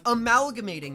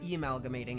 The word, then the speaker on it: amalgamating: He gets defeated, his demonic power gets absorbed, amalgamating, not emalgamating, it's spelled with an A, amalgamating Chris and Noelle into the night.